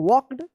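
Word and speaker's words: walked: डब्ल्यू ओ एन डी ई आर एफ यू L wonderful the old castle लुक्ड wonderful we वॉक्ड यहां पे L silent रहेगा वॉक्ड through T एच आर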